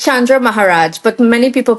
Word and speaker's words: Chandra Maharaj: Yeah, it's Chandra Maharaj, but many people pronounce it many different ways.